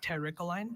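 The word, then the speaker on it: terricoline: Terline.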